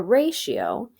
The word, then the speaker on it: ratio: from a different language which is why the Tio makes a sh sound so a ratio is a comparison of